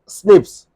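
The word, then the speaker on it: SNP: single base DNA difference S एन P single nucleotide पॉलीमोर्फस pronounce as स्निप्स occur in the human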